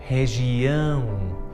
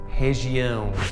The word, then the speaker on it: região: And notice that that R at the start of the word is pronounced like an H. This happens with all R's at the start of the word. It's exactly the same as the letter H in English.